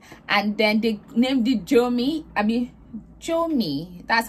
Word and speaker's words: Jomi: And then they named it Jomi. That's how they say it. But when I say my hair, I see Jomi, like Josh, then me.